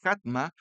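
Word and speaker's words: חכמה: La sabiduría viene de una palabra hebrea jatma, así se pronuncia, jatma, y se traduce como habilidad, prudencia.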